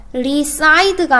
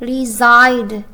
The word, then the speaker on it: reside: 그 다음에 reside는요, 발음이요, reside가 아니고 reside, z 발음을 내야 돼요.